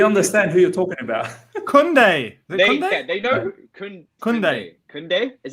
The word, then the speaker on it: Kunde: George is saying Matisse back with his pronunciations again. Kunde. There you go. Dyke Ezike has said it's Kunde.